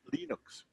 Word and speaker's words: Linux: his name and so he actually calls it Linux but nobody in the united states could say